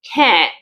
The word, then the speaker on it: can: Un aspecto muy importante es la pronunciación de can, porque no siempre se pronuncia can. Esto se hace para efectos de entonación. Cuando yo quiero resaltar la palabra dentro del enunciado, ahí voy a pronunciarlo can, can, can.